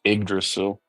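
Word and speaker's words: Yggdrasil: is that yra yrail oh Norse pronounced igdrasil igdrasil what what do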